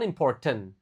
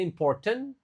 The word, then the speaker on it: important: Nah, ini bukan important. Eh, ada orang yang bacanya important tapi yang lebih bagus important. Jadi t yang di akhir itu enggak begitu dibaca. Important.